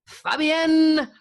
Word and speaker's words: Fabienne: Now, what's really great is that Fabienne, I'm going to say Fabienne, yeah. Fabienne. Yeah, you said it right.